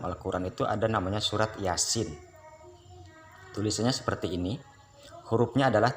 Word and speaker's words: Yasin: Padahal sudah jelas hurufnya huruf yang pertama huruf ya sama huruf sin, maka dibaca surat Yasin. Yang fathah berdiri itu 2 harokat, yang ini ada mad di atasnya menjadi 6 harokat. Cara bacanya Yasin, bukan Yasa.